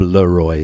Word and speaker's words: Le-Roi: why because my name is french they couldn't pronounce it in england and that's as simple as that but i am bob leroy so there you go 1965 is also the